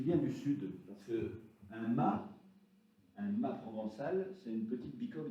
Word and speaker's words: mas: comtoises, ou une bicoque, ça s'appelle un mât, M-A-S. Et le S ne se prononce pas.